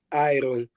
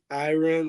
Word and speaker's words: Iron: Here in the US, it sounds like iron, like iron, but it's almost like my name, like Iron, because in Portuguese, they pronounce my name is Mairon, so it'll be Iron.